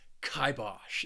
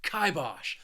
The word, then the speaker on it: kibosh: list and that is kibosh this word has two syllables and the stress is on that first syllable and i just like saying it with a lot of emphasis and energy kibosh to put the kibosh